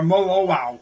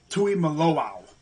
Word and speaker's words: Tuimoloau: Or Molowau, as I guess that's how you say it. Some people say Tuimoloau. It's, I believe, Tuimoloau. Can't forget that other O, But with that being